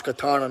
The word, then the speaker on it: Katana: So her name's Katana, not Katana. I've been pronouncing it wrong the whole time.